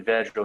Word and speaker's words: Vedral: Vedral.